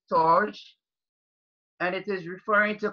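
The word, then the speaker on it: storge: that plays on us you have s T ou are GE and it may be pronounced torch and it is referring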